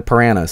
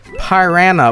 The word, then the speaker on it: piranha: piranhas soon all right people keep telling me I'm pronounced piranha wrong I probably needed that but whatever I think I say I say hire Ana with a bit of a southern twang which is really funny